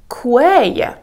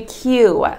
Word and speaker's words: queue: Then they told us to stand in a quay. Oh my god, you should say I wanted to stand in a queue.